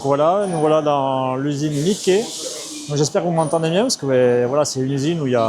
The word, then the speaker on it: Miche: Donc aujourd'hui, ben je vais vous faire visiter Mickeé, donc souvent en France on prononce Miche.